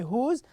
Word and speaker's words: whose: what we mean by whose and you know also how to pronounce who's how to say this word notice here wh here o is e so we pronounce it who's okay the second word